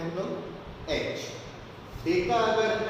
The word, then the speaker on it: डेका: इसका प्रोनाउंसिएशन जो है, अगर मैं DAM लिखता हूँ, सपोज DAM, तो डैम नहीं बोलेगा, डैम नहीं बोलते इसको हम बोलेंगे डेकामीटर। प्रोनाउंसिएशन डेका करना है, जैसा हम यहाँ पर के नहीं बोलते, KM नहीं बोलते, हम किलोमीटर बोलते हैं, किलो बोलते हैं। इसको हेक्टो बोलेंगे तो DA को क्या बोलेंगे, डेका।